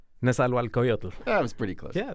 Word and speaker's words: Nezahualcoyotl: Test question, can you pronounce his name? I'm going to try. Nezahualcoyotl? Nezahualcoyotl.